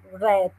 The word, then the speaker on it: read: we use read but in the past we say red like the color I think she mentioned